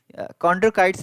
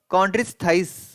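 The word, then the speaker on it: Chondrichthyes: तो कॉन्ड्रोकाइट्स वैसे स्पीसीज होते हैं जो कि आपके कार्टिलेज के बने होते हैं, कार्टिलेज, कॉन्ड्रोकाइट्स नहीं सही रहेगा, कॉन्ड्रिच थाइस होगा, कॉन्ड्रिक थाइस, ठीक है।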